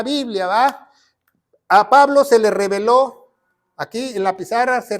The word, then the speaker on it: reveló: Entonces la palabra de Dios dice, pongan mucha atención, dice, reveló con acento en la O, misterios, aquí están los